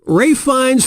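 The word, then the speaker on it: Ralph Fiennes: was that easy correct answer show yourself yep ray Fiennes first name is spelled like ralph but pronounced race and his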